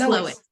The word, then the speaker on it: Lois: Is Lois or Louise? How do you pronounce it, Lois? Is it Lois? Lois. It's Lois.